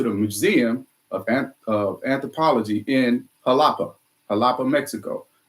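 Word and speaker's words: Xalapa: Museum of Anthropology in Jalapa, Mexico. Starts with an X, but they pronounce it with a J, Jalapa. We drove up to Jalapa, Mexico, took a look at all the Olmec heads.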